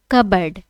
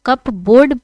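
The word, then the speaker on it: cupboard: Arjun knew that the file was kept safely in द कबर्ड। इसे क्या पढ़ेंगे? कबर्ड पढ़ेंगे। बहुत लोग कप बोर्ड पढ़ते हैं बट ये प्रोनाउंसिएशन क्या है? रॉन्ग है। इसे क्या पढ़ेंगे? कबर्ड।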